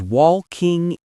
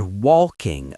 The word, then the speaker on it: walking: I think I pronounced that word walking a bit strange, right? It sounded like walking to me. You fell into the trap of the ghost L, Lucas.